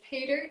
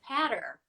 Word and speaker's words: Pater: But it's Pater _, which Pater is later, except the L is a P.